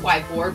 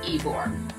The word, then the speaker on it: Ybor: Some will pronounce it Ybor, but it is pronounced Ybor.